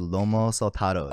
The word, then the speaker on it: lomo saltado: Favorite thing I ate was I had three of them in the same country, but was the lomo saltados.